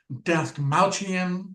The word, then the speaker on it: Dastmalchian: pronounce the guy's name. David Dastmalchian.